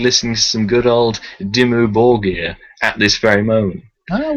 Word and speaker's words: Dimmu Borgir: This just every time I hear that band name reminds me of that person I met who pronounced them Dimmu Burger.